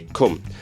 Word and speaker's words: come: The vowel in come is pronounced very differently in different English dialects, such as mine, where I say cum.